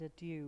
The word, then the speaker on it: adieu: and then it says, pronounced by Mr. Joyce, adieu. Yeah, So just so you know. French with a bad accent.